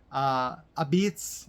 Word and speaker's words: Apizza: One of the big reasons we went, as I mentioned earlier, modern Apizza, Abizz, if you want to say it like an Italian, I'm part Italian.